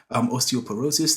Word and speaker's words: osteoporosis: is a condition I believe is called osteoporosis osteoporosis that's how you say it and high blood